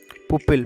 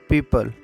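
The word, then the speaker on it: pupil: वैसे इसकी प्रोनाउंसिएशन होगी पीपल, तो पीपल बोलेंगे इसको, ना कि पुपिल।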